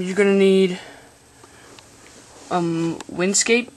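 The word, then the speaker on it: WinSCP: for this um you're going to need um Windscape it's it's spelled win s SCP so first of all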